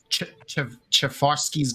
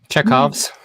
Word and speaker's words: Chekhov: And I said to Aaron, actually, like, I'm not going to pronounce this right, so go ahead and butcher me. But Chevarsky's gun. Chekhov's.